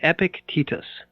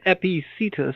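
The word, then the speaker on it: Epictetus: spelled as like as if you were to phonetically sound it out it's epic tetus which sounds foul my goodness it does but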